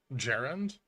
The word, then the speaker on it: Garand: interesting as hell huh you pronounce Garand with a hard G gerund ooh I will not do